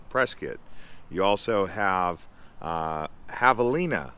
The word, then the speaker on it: Prescott: up right press kit well it sounds like prescott but most people here call it press kit you also have uh